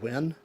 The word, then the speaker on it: Zhiyun: little beauty just win how do you pronounce it is when I think likes win but with a Z there's when smooth hue